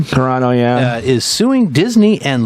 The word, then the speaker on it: Carano: know right uh speaking of hips uh Gina corano is that how you say her name Carano yeah is suing Disney and Lucas film for